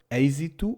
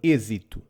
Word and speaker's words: êxito: For example, the word êxito, success, can be pronounced êxito or êxito, depending on what part of Portugal the speaker is from. Both are correct.